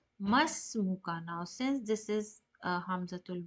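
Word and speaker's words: ما اسمك: Hamid says, Masmuka. Now, since this is Hamzatul Wasl and it is known for connecting the sound, so you should not pronounce as Ma Ismuka. You should go directly to Mas.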